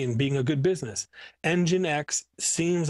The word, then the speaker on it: nginx: ago i ran across n g i n x or pronounced nginx where if you're from